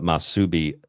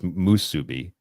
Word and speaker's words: musubi: think see I think I put masubi I my wife says musubi uh but it basically means um to be bound to the divine plan.